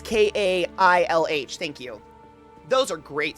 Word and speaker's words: Kailh: It's like Kahle or something like that. That's a really popular switch brand, and they compare them because they have their own now. It's Kailh.